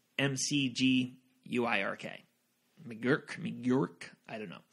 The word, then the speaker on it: McGuirk: Sally McGuirk I think I said her her name wrong it's mcg you I RK McGurk New York I don't know she got into